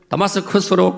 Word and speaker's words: 다마스커스: 이끌고 예루살렘을 출발해 가지고 다마스커스로 가고 있었습니다 왜 갈까요 여러분 아시지요 성경을 통해서 사도행 9장 다마스커스에 우리 성경 번역에는 다메 이이지 영어 원 발음은 다마스커스 시리아의 수도입니다 그 다마스커스에